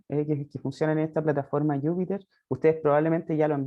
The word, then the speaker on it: Jupyter: Yo erróneamente antes los pronunciaba Jupyter, pero pareciera que es Jupyter, ¿no?